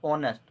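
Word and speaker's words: honest: इसमें एच जो होता है वो साइलेंट होता है और ओ स्टार्ट होता है, तो ऑनेस्ट, ऑनेस्ट का मतलब क्या होता है, ईमानदार।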